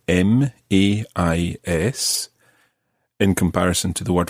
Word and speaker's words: mais: And this varies very slightly depending on which part of the French-speaking world you are, but you may hear a slight difference between mais, as in mes enfants, and mais, mais j'habite à Paris.